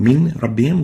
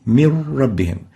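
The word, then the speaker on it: من ربهم: So instead of saying min rabbihim, we'll say mir rabbihim. No nun would be pronounced, only a ra, and the ra will be like duplicate ra. It has shadda. Mir rabbihim instead of min rabbihim.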